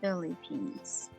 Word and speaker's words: Philippines: Philippines. Philippines. They say it Philippines. Philippine. Yeah. E, like C, Philippine. But quick. Philippines. P. Philippine. Philippines. Philippines. But this, put the emphasis on the first Phi, Philippine.